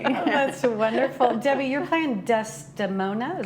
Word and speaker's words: Desdemona: Debbie, you're playing Desdemona? Is Correct, that how you say it? Desdemona, yes.